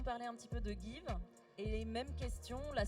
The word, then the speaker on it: Geev: une plateforme qui s'appelle give ça s'écrit geev c'est une plateforme de